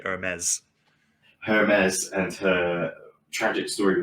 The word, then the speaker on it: Ermes: Anastasia's story with his girlfriend, Hermes, It's Hermes, I guess, but like if you were to say it properly, it'd be Hermes.